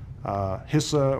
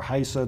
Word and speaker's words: HISA: HISA or HISA, depending on how you want to pronounce it, it's underway.